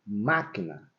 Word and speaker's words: máquina: é a sílaba forte quando eu falo máquina máquina e você tá ouvindo você consegue perceber claramente Qual é a sílaba tônica dessa palavra é o ma mas quando a gente